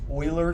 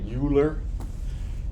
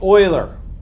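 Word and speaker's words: Euler: person's name is pronounced Oiler this is a German name don't say uler you will sound foolish they will tell you I have a boyfriend if they hear you say uler um it's Oiler or I have a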